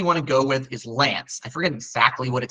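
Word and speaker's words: LAANC: that you really want to go with is Lance I forget exactly what it stands for low altitude aircraft notification I'm I forget exactly the acronym but it's called Lance that's what it is it's pronounced uh Lance it provides for instant authorization at specific altitudes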